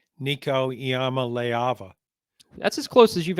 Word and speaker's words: Iamaleava: Yes, and I've even practiced saying Nico Iamaleava. That's as close as you've ever come, I think. Yeah, and I notice you're not pronouncing that A.